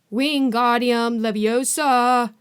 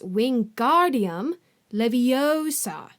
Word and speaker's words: Wingardium Leviosa: having much more luck Wingardium Leviosa he shouted waving his long arms like a windmill you're saying it wrong Harry heard Hermione snap its Wingardium Leviosa make the GAR nice and long you do it then